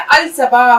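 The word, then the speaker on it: الصباح: लाम-साद, क्योंकि यह भी एक शम्सी पत्र है, इसलिए यह अस-सबाह है। तो इसमें भी हम 'लाम' का उच्चारण नहीं करेंगे , लेकिन इसे लिखेंगे कैसे?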